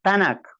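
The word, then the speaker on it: Tanakh: a su Biblia que tanak tal como lo estoy pronunciando tanak ya de donde se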